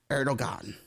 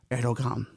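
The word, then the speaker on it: Erdoğan: to the incumbent president, Erdogan. And did I pronounce that right? No, Erdogan. No, kids, like he's got Erdo, and that thing over the G. Erdogan? Erdogan, let's go with that one.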